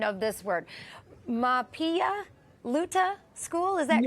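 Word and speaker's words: Mahpiya Luta: Mapia Luta School, is that correct? Am I close? Is that the native language? Yes, you are super close. So it's pronounced Mahpialuta. Mahpialuta, Iowa is a Red Cloud school in Lakota.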